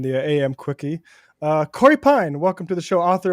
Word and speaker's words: Pein: a pass just like if they mispronounce my last name it's you know am I doing that no Pine is Pine is right you got it I